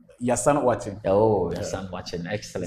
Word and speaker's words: Yassan Ouatching: Pronounce the name. Yassan Ouatching.